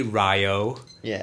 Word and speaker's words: Ryo: some people going, "Hey Ryo," and stuff like that. But you can tell that they've been like, "No, it's pronounced Rio.